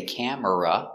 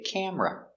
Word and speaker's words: camera: very good example camera we don't say camera we say camera two syllables camera I don't